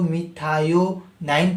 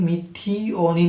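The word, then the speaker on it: methionine: तो नूसाम टैबलेट्स में होता है एस एडेसोनाइल एल मिथियोनिन, मतलब कि अगर आप इसको मिथायोनाइन पढ़ो या फिर मिथियोनिन पढ़ो, मतलब कि दोनों प्रोनाउंसिएशन लगभग सही है।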